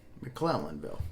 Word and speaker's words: McClellanville: I want to call it McClellanville, and I just want to make sure I'm pronouncing it correctly. McClellanville.